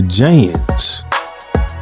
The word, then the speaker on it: Janz: Today we're talking about the Jans 24 foot telescoping wand. Yeah, that's 24 ft or foot telescoping wand by J A N Z. That's how I pronounce it.